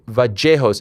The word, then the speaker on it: Vallejos: So is the double L like a J? Kind of, yeah, ja. Yeah, so it's Vallejos.